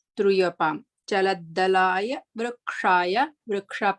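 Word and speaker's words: वृक्ष: Vriksha, please make sure that the va is having a ritva, the r dot. For the r dot, this is the ritva. We need to pronounce it as like short r sound should come. Vriksha, place for the ksha. We have to roll our tongue, the tip of the tongue, try to touch to the palate.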